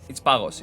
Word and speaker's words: Pagos: My pronunciation is the Greek version, okay? Maybe you know it as Pagos or whatever, right? But it's Pagos. It means ice.